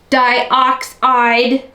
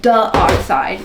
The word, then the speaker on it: dioxide: my pronunciation that's why I say titanium di-oxide I kept getting corrected that I was saying duh-oxide which it's not like duh it's not duh-oxide and duh I know